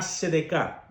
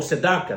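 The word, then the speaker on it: צדקה: El pueblo judío tiene algo que se llama sedeká o sedaka, dependiendo de la pronunciación.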